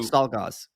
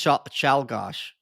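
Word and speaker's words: Czolgosz: You Leon do Stalgos. Yeah. How would I pronounce that? It's Chalgosh. Chalgosh.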